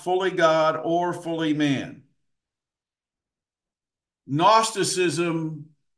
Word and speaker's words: gnosticism: of the early heresies gnosticism that's how you say that word the the g is silent gnosticism g n o s